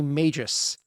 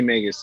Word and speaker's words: Magus: Neil played a Magus, which I used to call Magus, the Pathfinder class, and he It's pronounced pronounced it Magus.